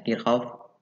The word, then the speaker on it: Kirchhoff: Ya, namanya ada yang namanya energi listrik, ada daya listrik, ada rangkaian seri, paralel, kita selesaikan, ada hukum Ohm, hukum Kirchhoff, tulisannya Kirchhoff, bacanya Kirchhoff ya.